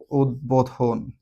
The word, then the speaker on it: উদ্বোধন: উত উপসর্গের সাথে বফলার উচ্চারণ বহাল থাকবে। উদ্বোধন।